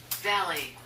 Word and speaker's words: valley: Valley. 밸리. Valley. Valley. 그래서 우리말로 스파, 밸리 이렇게 해도 되지만 L은 천장에 붙어야 되니까 정확히 발음하면 밸리, 밸 이런 느낌이에요. Valley. 그냥 밸리가 아니고 밸리.